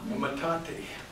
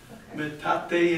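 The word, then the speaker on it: metate: and turned it over see that that's a matate you know Aztec word and the reason these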